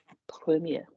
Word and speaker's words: premier: How do we pronounce the word first? Le No. Premier.